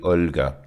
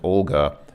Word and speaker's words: Olga: Olga in English but in Russian you see the L has a soft sign so when you see so many named Olga it's actually Olga if you know it a Russian woman named Olga called try calling her